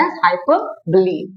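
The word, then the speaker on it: hyperbole: Active बच्चा है, तो हाइपर और बली, बली मीन्स बोले, मैंने आपको बोला था स्पेलिंग तो आपको बोले का ही लिखना है।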